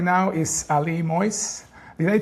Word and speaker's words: Moiz: With us right now is Ali Moyes. Did I pronounce right, Moyes?